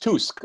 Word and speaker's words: Tusk: in all sorts of places you guys it's pronounced tusk okay and he suck he's a costume he's